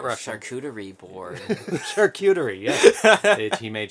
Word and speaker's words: charcuterie: four oh so i don't know how to pronounce it and people make fun of me every time i'm not rough charcuterie board charcuterie yeah he made charcuterie um get